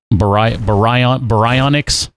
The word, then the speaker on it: Baryonyx: Baryonyx? Some sort of really weird pronunciation too. Baryonyx. It's a baryonyx. There we go. That's how it's pronounced.